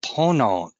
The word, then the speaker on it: Ponant: yesterday during our briefing i would not pronounce the t so for everyone out there i speak only english but you know what i've been corrected many times and pono it's the west of